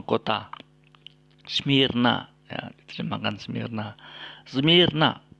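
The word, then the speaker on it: Σμύρνα: Smyrna, bukan Smurna. Ya. Jadi kalau membaca Smurna itu keliru. Seharusnya dibaca Smyrna.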